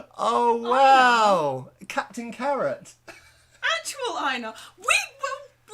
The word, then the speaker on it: Einar: Einar, as I think it's more correctly pronounced, actually.